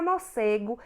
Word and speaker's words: morcego: E é aí que vocês não terão mais dúvidas, porque a palavra morcego, ela é escrita com C, mas o C antes do E tem som de S.